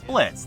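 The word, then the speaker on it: Blitzø: The lead is the titular boss, Blitz. The O is silent.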